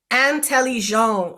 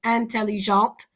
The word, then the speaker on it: intelligent: So T is the last letter here, intelligent, and I don't pronounce that T. But when I have intelligent, I have a vowel here, so I pronounce the T.